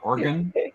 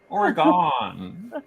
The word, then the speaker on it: Oregon: Oregon. you'll get us to say it right eventually, Asher. Okay, no worries. But it's O-N at the end. Oregon.